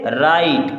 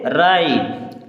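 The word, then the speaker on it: write: हो जाएगा नेप सेक डब्लू आर आई टी इसे पढ़ेंगे राइट क्या पढ़ेंगे राइट एफ एल आई जी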